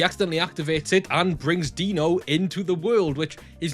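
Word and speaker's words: Deeno: MiniForce Dino King isn't a MiniForce movie.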